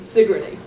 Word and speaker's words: Sigourney: here in her birthplace, Lydia Huntley Sigourney, accent on the first syllable.